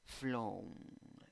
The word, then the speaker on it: flown: Número 5, tienes 5 letras, 4 sonidos, escritura con O, pronunciación O con sombrero, O. Flown, flown.